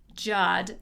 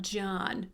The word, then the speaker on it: Jod: I don't know where the emphasis is on the syllable, so it's hard for me to know. Okay. All right. Jod, not John.